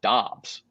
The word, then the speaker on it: Doubs: He says it's pronounced Dobbs. That Dubs is also Okay, incorrect.